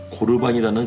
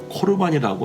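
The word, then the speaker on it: 코르반: 되었다고 이해 하고 있는 고루 반이라는 그런 단어입니다 고르 반의 정확한 뜻은 오늘 본문 말씀에 나와있는 계사 예물을 표현할 때 사용된다 나이며 발음은 코르 반이라고 합니다 그런데 왜 제사를 의미하는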